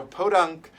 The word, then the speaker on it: podunk: is i looked up what it means so podunk is uh well let's be sure i'm saying